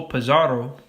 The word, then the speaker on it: Pizarro: In 1533, Spanish conquistador Francisco Pizarro, you gotta roll the R's, captured the Inca leader Atahualpa.